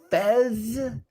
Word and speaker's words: PHES: know what's funny is it's p-h-e-s but when i pronounce it i think of the foreign exchange student character on um that 70 show yeah that's actually where